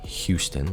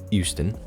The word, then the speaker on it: Euston: It's not Houston, like Houston, Texas. It's Euston.